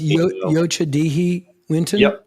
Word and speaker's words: Yocha Dehe Wintun: So Yocha Dehe Wintun Nation owns and operates the property. It's pronounced Yocha Dehe Wintun?